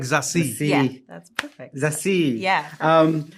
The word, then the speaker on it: Zazie: It's like Zazie.